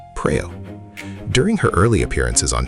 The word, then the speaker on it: Praew: the local band Ozone, many foreign listeners struggled to pronounce Praew correctly, often saying Peo or Pure.